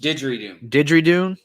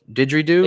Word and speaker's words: didgeridoo: How is it pronounced? Didgeridoo. Didgeridoo.